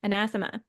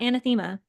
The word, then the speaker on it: anathema: This is another word that I used to mispronounce a Ooh. lot. Anathema, not anathema, anathema.